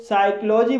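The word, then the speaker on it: psychology: साइकोलॉजी, साइकोलॉजी शब्द भी पी एस से शुरू हुआ है इसलिए यहाँ पर पी साइलेंट है, इसलिए इसे साइकोलॉजी बोला जाएगा और साइक्लो मीन्स होता है मनोविज्ञान।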